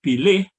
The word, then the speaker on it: pilih: So, for example, the word spelled P-I-L-I-H is pronounced pilih in Sebutan Johor Riau, but pilih in Sebutan Baku.